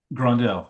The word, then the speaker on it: Grondel: Grondel? Am I pronouncing that correctly? Grondel, yes. Grondel, thank you.